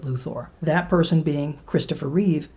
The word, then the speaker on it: Luthor: least more verisimilitude honest by pronouncing his name like a real-world name but the funny thing is nobody else got that memo so you'll find that not only does Ned Beatty consistently pronounce it Luthor but the only other person who pronounces his name in the movie also pronounces it Luthor that person being Christopher